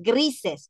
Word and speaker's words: grises: acá, gris, zzz, zzz, hay como una Z, acá, gris, y acá, gris, gris, como que decimos grises, pero con Z, es gris.